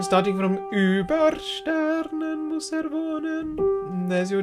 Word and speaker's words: wohnen: Just hum the N. And accent on the vo, but quite a lot less on the n.